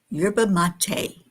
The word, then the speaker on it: yerba mate: Yurba mate is how it's pronounced.